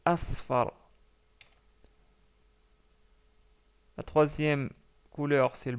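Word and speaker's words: أصفر: s'arrête sur le mot attention je pas prononcer esfar donc c'est un sad la deuxième lettre donc c'est Asfar la troisème couleur c'est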